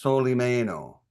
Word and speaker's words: Solimeno: My last name is pronounced Soleie Mayo.